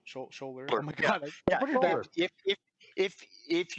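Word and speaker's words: Sholder: Shoulder? Shoulder? Oh my god. Yeah. If you're around him, he will literally tap his shoulder and go, "Hi, I'm Jack."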